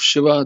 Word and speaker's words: Shiva: Yes, Shiva. Isn't that the statue that's in front of CERN? Yes, it is. The particle collider? Oh my gosh. Mhm. Yes. Interesting. So it's one of the avatars of Shiva.